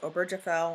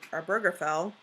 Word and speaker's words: Obergefell: There's also the Supreme Court decision in 2015, I think it's pronounced Obergefell or Burgerfell v.